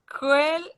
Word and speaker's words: quel: Quel, QU c'est K, quel.